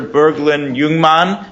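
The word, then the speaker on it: Burglind Jungmann: next session is Professor Bergland Youngman I probably mispronounced it even though I've been practicing from from UCLA thank you very much your pronunciation was perfect how do I move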